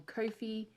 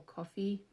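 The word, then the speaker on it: Ko-fi: youtube and i'm on kofi or coffee depending on how you pronounce it uh and if you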